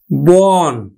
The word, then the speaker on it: বন: মন মৌকার দন্তান্য মন বন এই এক অক্ষর বিশিষ্ট আর দোয়া এটাকে আমরা উচ্চারণ করি বোন জন আমরা উচ্চারণ